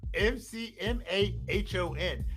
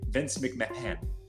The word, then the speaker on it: McMahon: This guy's name is well, it's not that the H is silent. The H is just quick. Vince McMahon.